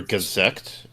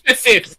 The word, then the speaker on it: Gesicht: It's Gesicht. It's actually it means face in German. Yes, it depends on the dub, because in dub they pronounce that Yeah, it's differently Gazekt. from the original thing. Yeah, they I'm pronounce him as surprised. Gazekt, like executive.